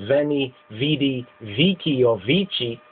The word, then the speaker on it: veni, vidi, vici: of pronouncing this the modern way is is is Veni V VII or vichi and the older way is wany weedi Wei as in wekipedia so wayy weedy Wikipedia wayy weedi Wikipedia you